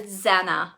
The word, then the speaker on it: Zana: your christmas projects oh it's like anna but with a z so zana ah thank you so